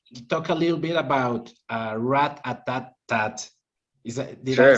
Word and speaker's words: Rat-A-Tat-Tat: Now let's talk a little bit about Rat-A-Tat-Tat.